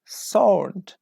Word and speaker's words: sword: after me sword salt in this word we don't pronounce ee sword we say sword okay not support sword sword is a correct w w is not pronounced here 22 me now okay let